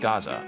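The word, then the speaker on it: Géza: measurements it's saint Gaza Gaza the J was silent it's a name normally used in Hungary oh so it's pronounced Gaza okay nothing but a strange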